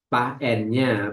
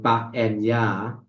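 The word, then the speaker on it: paññā: You may pronounce nya, pa and ya, but for Thai, you know, ya. So that's why I use according to Thai, pa and ya.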